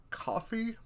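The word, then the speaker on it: Ko-fi: there's sites like co i think it's coffee but it's spelled k-o-f-o where you can just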